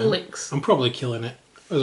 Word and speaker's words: Ulix: Alex. I'm probably killing it, as I normally do with names and stuff. But no, I would say that's right. Ulix. We would say Ulix, like Ulysses, or Alex, like, I don't know, Udder.